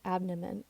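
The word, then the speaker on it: Abnehmen: Point against an ABN note that the word abnom is spelled a b NE m n it happens like this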